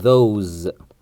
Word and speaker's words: those: لكن لو بأشير إلى حاجة بعيدة في حاجات بعيدة سواء في المكان أو في الزمان، فبختار أقول those، والأس هنا بتنطق زد.